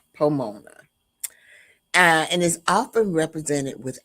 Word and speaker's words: Pomona: It rhymes with Ramona, Pomona.